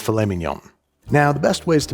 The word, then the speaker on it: filet mignon: So, next up we have beef tenderloin or as the French like to call it, fillet mnden. It's famemenon, but I love you and you're doing great. I'm being told it's pronounced filemen.